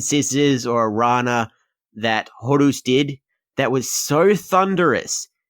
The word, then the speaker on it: Horus: But we kicked off the action with Rey Horus, but Selena actually announced who all the matches were. So we had Horus, which is apparently the right pronunciation, because apparently the way that Jim Cornette